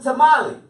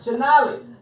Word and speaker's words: Shonali: Dr. Tamale Oh no, she said don't say it like that. I was gonna say, that's definitely not how she said it. Shonali.